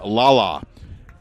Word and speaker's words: Lala: no strikes on Jordan Lala spelled like the way it sounds l-a-l-a Ken Banning 412 a